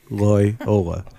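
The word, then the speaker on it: Loyola: lyola so get ready that's how you say it Loy Ola lyola there we go but no it'd be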